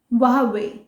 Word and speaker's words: Huawei: तो चाइना में मे बी हुआई लिखते ऐसे हैं लेकिन प्रोनाउंस वावे करते होंगे, सो it's right pronunciation is वावे।